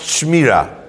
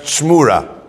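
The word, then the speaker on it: שְׁמוּרָה: It's not pronounced Shmira. It's pronounced Shmura.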